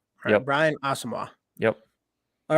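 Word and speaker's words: Asamoah: website Gabe Henderson he did say it is pronounced awesome wall Brian Asimov yep all right let's go to our next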